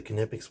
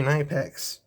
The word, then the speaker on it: KNIPEX: say to say it you go to the kipic website they sell a t-shirt with the pronunciation on the t-shirt and it is kipic so those of you that say IEX you can keep saying it but I'm going